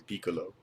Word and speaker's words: Piccolo: I pronounce like an Italian Piccolo.